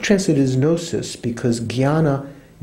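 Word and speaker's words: jñāna: Could translate it as gnosis, because jnana is, in Sanskrit, is kind of like J-N, with the umlaut. That's how you kind of pronounce it. Oh, not umlaut. What do you call it? Tilde over it. Jnana, jnana, and the Sanskrit scholars that I know say that nowadays people pronounce it kind of like jnana, almost like G-H.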